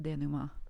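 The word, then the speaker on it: dénouement: She's like, "It's pronounced denouement," and I was like, "Oh, thank you, and please forgive me for being so dumb."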